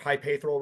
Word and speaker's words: Hypaethral: out May 2nd on Hypaethral Records. Did I say that right? I always fucking say it wrong. You're pretty close. I say it as like Hypaethral Records. So yeah, you're close.